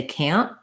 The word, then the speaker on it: can't: It's similar to how we say can't. On can't, you often won't hear that T sound. People will just use a short N and they'll stop the air with the tongue.